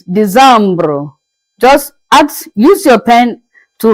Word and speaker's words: Décembre: It's Décembre. Just use your pen to write, to add the E at the end. December is being pronounced as Décembre, Décembre.